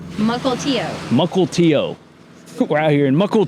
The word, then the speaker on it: Mukilteo: Multio. Multio. How do you say that? Multio. Muckle Tio.